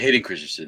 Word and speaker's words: Christensen: I always say his name wrong. But anyways, You don't Christian. Hayden I also don't Christensen. Christian. Yeah, Hayden Christensen. Hayden Christensen.